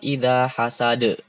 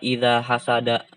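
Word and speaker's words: إِذَا حَسَدَ: Wa min syarri hasidin idza hasad. Bukan idza hasada. Ketika berhenti, kalau ada yang baca idza hasada itu salah.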